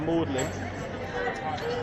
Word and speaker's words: Magdalene: Lord Chancellor Thomas Audley now it's spelled Magdalene and there's a sister College in Oxford called Magdalene you might be wondering why do we call it modeling well that's because uh